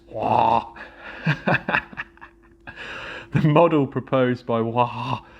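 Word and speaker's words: Waugh: This dualistic nature of memory was proposed by the early investigators of memory, such as William James, Wag, and Norman. The W is silent. The GH is silent. Wah.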